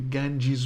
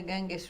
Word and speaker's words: Ganges: The Ganges River. It's spelled Ganges, yeah. not G-E-E-Z, but you pronounce it like that.